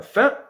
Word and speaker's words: fin: Par exemple, le mot fin, N ici, il n'est pas prononcé.